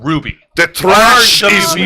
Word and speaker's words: RWBY: that started in November 2000 and that started in 2013 November 2012 called Ruby. The trash is RWBY. not done flowing. That's right. Viz Media has acquired the Ruby series.